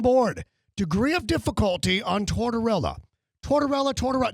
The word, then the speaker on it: Tortorella: Mad Dog Chris Russo, trying to pronounce the name of John Tortorella. Look, not that hard. John Tortorella, longtime hockey coach. Take a listen. 04 CAC, we played Tampa down in when our good buddy Tortolotto won Torts, and it was $6.29 million.